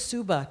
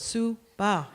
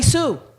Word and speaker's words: Suba: would you you know my name is Suba two syllables sue bah they called me sue like how crazy is